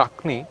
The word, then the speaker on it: Agni: Actually, the word is Agni. Agni. Okay. So maybe because of the pronunciation we are not getting everything, but the